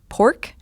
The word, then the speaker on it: Poruk: members of the band Pork. Not spelled the way you think it's spelled. Can you guys spell it for me? I'm going to mess it up. It's spelled Poruk. And it's not Poruk.